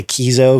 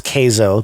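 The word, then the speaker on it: Keizo: spelled k-e-i-z-o uh but people are gonna mispronounce it and say kizo because you know k-e-i keith but it's uh it's kazo pronounced k is o-k-a-y-z-o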